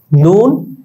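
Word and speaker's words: نے: যেমন দেখো তোমরা নুন ইয়ে জের নে, যদি মারুফ হতো তাহলে আমরা কিন্তু নি বলতাম, কিন্তু না, এখানে নুন ঠিক আছে, জের ঠিক আছে, ইয়ে ঠিক আছে, কিন্তু উচ্চারণটা হয়েছে কিরকম? নে।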